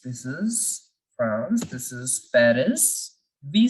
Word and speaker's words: Paris: is France this is Paris we say Paris in English in French we don't say parents we keep the last alphabet silent we know that the